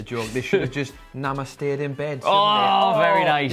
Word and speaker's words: namaste: People always go for that namaced. I know. You know it's pronounced namaste.